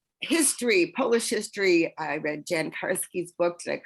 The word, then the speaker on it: Jan Karski: I read Jan Karski's book. Did I pronounce his name correctly?